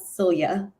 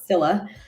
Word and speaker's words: Scylla: It's not Celia. It's Scylla.